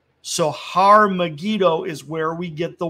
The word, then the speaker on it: Har Megiddo: mount megiddo okay and mount megiddo in hebrew would be pronounced har megiddo so har megido is where we get